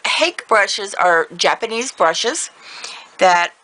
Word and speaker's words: hake: these are H brushes it's like pronouncing rake but use a h in place of the r rake H so hake brushes are Japanese brushes